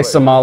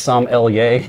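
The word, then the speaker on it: sommelier: SoMo most people say somal it's actually pronounced Sam l y yes think about Sam and then the letter L and then yay Marsha mcer she's the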